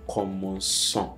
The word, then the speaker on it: commençons: You add the cedilla to the C. Alright, this is just to have a smooth pronunciation. And that's why we're saying nous commençons, commençons. So the cedilla softens the k sound.